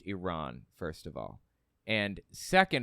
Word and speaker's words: Iran: he is Chief propagandist session concession concession on Iran on China on it's Iran it's pronounced Iran first of all and second of all concessions